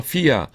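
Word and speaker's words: σοφία: 어, 그 대신에 이제 우리가 보통 일반인들은 발음을 소피아라고 하니까 이게 P인지 아시는데 P가 아니라 피입니다. F 발음. 그래서 소피아.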